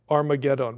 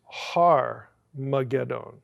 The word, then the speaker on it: Armageddon: That is the H sound in Greek.